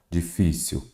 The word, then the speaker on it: difícil: temos aqui ó próton Qual que é a sílaba tônica pro difícil a sílaba tônica é o fi e aéreo Observe aqui